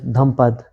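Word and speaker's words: Dhammapada: Like I was reading the book by Gautam Buddha, which is named as Dhampada, is how you pronounce it.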